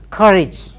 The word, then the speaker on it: courage: has been done damage has been done then courage courage got it so it's never courage or